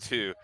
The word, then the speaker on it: Tyr: I'm trying to remember the god Tyr. of Tyr. There's a symbol of Tyr. Although it's pronounced two, and he's the lawbringer god too.